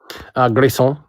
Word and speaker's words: Grayson: Grayson. Grayson? Yeah, like son, like S-A-W-N.